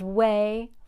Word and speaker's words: Wei: know what you're thinking you're thinking that way is spelled wrong but it's not the word way it's the name way the name of the title character is Wei Fong the American Way by